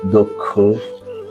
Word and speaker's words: দক্ষ: কোন শব্দের শুরুতে বা আদিতে যদি অ স্বাধীনভাবে থাকে অথবা ব্যঞ্জন ধ্বনির সঙ্গে যুক্ত অবস্থায় থাকে এবং পরবর্তী বর্ণ যদি ষি বা যুক্ত খ হয় তাহলে পূর্ববর্তী অ এর উচ্চারণ সংবৃত হবে অর্থাৎ ও এর মত হবে সম্মানিত সুধী যেই শব্দগুলো